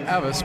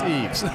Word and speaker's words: Eves: Of course, we're from Rio Grande Valley, and we pronounce the name Eves, but it's Eves.